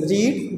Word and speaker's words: read: The third form of read, the written form of read is the same, read, but pronunciation is different. For example, read, read, read.